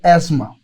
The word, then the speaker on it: asthma: उनसे गुजारिश करूंगा कि इसको कम से कम प्रॉपर प्रोनाउंस जरूर करें तो एस्मा अब आते हैं जी